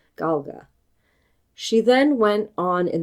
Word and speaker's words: Gaeilge: called Gaelic and the Irish language is called Galga. She then went on in that same interview to mispronounce the Gaelic words she used in the